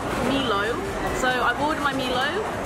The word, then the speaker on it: Milo: There was quite a debate in the comments when I asked how to pronounce it. I think the consensus was Milo.